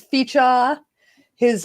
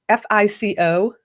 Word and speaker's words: Fico: chip cookie this is fija his um name is spelt fee i see f-i-c-o and everybody was calling them fico but it's actually fijah and he's probably like